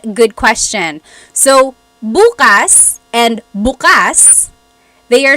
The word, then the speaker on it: bukas: syllable that means open buas means tomorrow so when the emphasis is on the first syllable it's tomorrow very interesting yep they